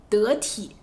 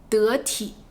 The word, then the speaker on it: 得体: 常用的词就一个，得体，得体。你这样穿不太得体，这样穿不太得体，意思是不合适。